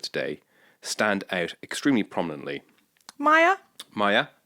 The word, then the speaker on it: Maya: civilizations of which the mayor who I'm going to talk about today Stand Out extremely prominently Maya Maya did I say mayor Maya it's spelled Maya but I of course